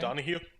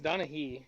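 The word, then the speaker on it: Donaghy: name the ex-nba ref okay donahue no it's donahee i think but anyways they hired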